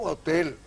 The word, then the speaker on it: hotel: Yo leo hotel con la H y digo hotel. La H no quiero decir que es muda, pero no representa fonema.